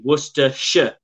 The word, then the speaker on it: Worcestershire: worcester yeah but um because that has got the shire in it so you say worcestershire that's the correct way to say it worcestershire no yeah because